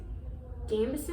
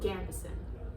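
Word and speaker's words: gambeson: I've seen it pronounced 2 ways: Gambison and Gambison.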